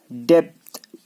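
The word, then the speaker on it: debt: डेप्थ DEPT, डेप्थ मतलब कर्ज। डेप्थ में बी को आपको पढ़ना ही नहीं है, डेप्थ बोलना है, डेप्थ बी को हमको पढ़ना ही नहीं, बी साइलेंट यहाँ पे।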